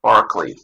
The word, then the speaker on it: Berkeley: is on Bishop Barclay I've heard it pronounced that way even though some relief like spelled that way but I guess this is Bishop Barkley and I can't tell